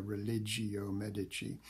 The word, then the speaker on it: Religio Medici: He's best known, as I say, for these two works, the Religio Medici, or to give it its medieval pronunciation, the Religio Medici, and also his later work, Urn Burial.